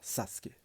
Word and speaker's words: Sasuke: le déclar sasuk enfin sasuk normalement faut prononcer comme ça si tu veux si tu veux bien prononcer à à la japonaise et donc alors on